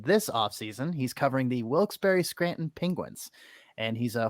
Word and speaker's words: Wilkes-Barre: to take me aside and say hey it's wilkes-barre scranton that looks bear like it looks i heard wilkes bear woke's bar yeah like the players i think